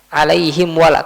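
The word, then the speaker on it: عليهم ولا: Jangan sampai dibaca dengan ikhfa. Bacanya seperti ini. Alaihim wala alaihim wala. Enggak harus dibaca dengan izhar. Alaihim wala. Coba alaiim wa. Jadi mimnya itu atau bibirnya itu tertutup dengan sempurna.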